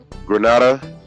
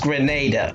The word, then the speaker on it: Grenada: I am told from the chat that it's pronounced *Grenada*. So that's my fault. I used to pronounce it Grenada all the time, and now that I'm